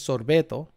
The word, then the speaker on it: sorbeto: In Puerto Rican Spanish, it's sorbeto. Like sorbet. Sorbeto. And I don't know.